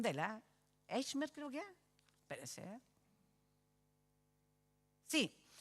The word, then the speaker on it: Eichmann: que más un hombre, Adolf, me cuesta la pronunciación de él, Eichmann creo que es, espérese, sí, Eichmann.